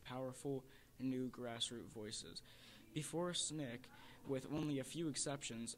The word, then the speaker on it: SNCC: Student Nonviolent Coordinating Committee it's pronounced snick represented a radical no